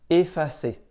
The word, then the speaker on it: effacer: En début de mot, devant une même double consonne, on prononce aussi « et ». Par exemple, erreur, essai, effacer.